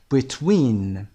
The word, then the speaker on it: between: و اما between تلفظش bit صدای کوتاه و دومی win. between اسمش هم روی win میاد.